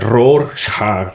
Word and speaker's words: Rorschach: A pronúncia bem não é essa, né? É Rorschach, mas não é bem assim também. Que é alemão, acho que é.